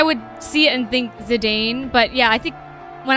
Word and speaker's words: Zidane: that's why yeah um zidane zoller z dane with the emphasis on zee dane or zidane emphasis